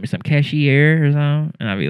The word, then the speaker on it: Cashier: Cashier. Like the nigga that run the register.